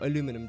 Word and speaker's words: aluminum: can just use aluminium I think this is just or aluminum depending how you like to pronounce the word I prefer just